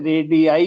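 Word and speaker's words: radii: रेडियस इसको बोलते हैं रेडाई plural R ए डी आई आई रेडी रेडी आई भी बोल देते हैं इसको कुछ लोग रेडी भी बोलते हैं रेडी आई इसकी एग्जैक्ट प्रोनाउंसिएशन है ठीक है रेडियस जैसे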